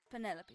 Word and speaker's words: Penelope: Officially, yes, but I never can be bothered with all four syllables of it. Penelope sounds a little ostentatious coming out of the mouth, don't you think?